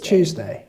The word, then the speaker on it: Tuesday: know on Tuesday she's Tuesday it sounds like you're choosing a day Tuesday thank you that